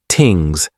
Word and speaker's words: thing: In addition to storytelling, law and order is maintained through public assemblies called things pronounced tings.